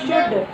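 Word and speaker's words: should: शुड नहीं बाबू, शुड L silent, शुड.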